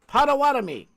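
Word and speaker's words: Pottawatomie: It's pronounced Pawatami. Emphasis on the water.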